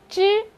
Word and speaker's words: zh: 拼音宝宝，它念作之，我们刚学的，对吧？